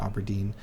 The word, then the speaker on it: Auberdine: and dark Shore and auberdine some people pronounce it Aberdine where I like learned